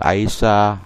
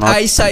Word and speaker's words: Aisha: they give to Muhammad in the Aisha houses. Yeah, it's not Aisha, it's Aisha.